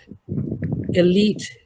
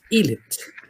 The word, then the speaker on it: elite: Elite is elite, elite, elite, Yes, and sir.